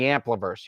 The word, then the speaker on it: Ampliverse: It's spelled how it sounds. It's AMPLIVERSE. Ampliverse, like amplifying universe.